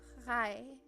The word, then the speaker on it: frei: Now I said we pronounce every single letter. We say f, fr, and then you have, but we don't say free, free, because that sounds weird. So if you see this combination, it's always pronounced I, like I captain. It's always pronounced like that, or I, or like, yeah.